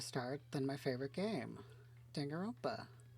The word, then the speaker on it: Danganronpa: And what better way to start than my favorite game, Danganronpa, which is not pronounced correctly. Danganronpa, that sounds right.